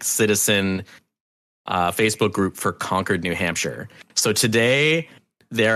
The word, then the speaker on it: Concord: Concord, New Hampshire is Concord. He's not on the Concord as in like they conquered New Hampshire.